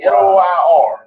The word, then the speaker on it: noir: a no say it right oh my God Noir no p i n o t n o i r how you pronounce that Noir I got it all and